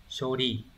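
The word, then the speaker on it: 処理: Như vậy chữ sử âm Hán Việt là ư thì sẽ không có trường âm, đọc là shori.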